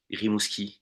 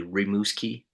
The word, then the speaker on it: Rimouski: That's how we pronounce it in French. Rimouski in English would be Rimouski, something Okay. like this.